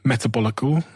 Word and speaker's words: Metabolical: And I also have this book called Metabolical. Did I pronounce that correctly?